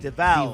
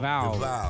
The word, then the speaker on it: DeValve: Spell that last name. Oh, is it a D-E-B-E-A-U-X type deal? No, No. It's D-E-V-A. V-A. LVE. DeValve. DeValve. DeValve.